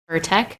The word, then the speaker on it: Pirtek: Pirtek.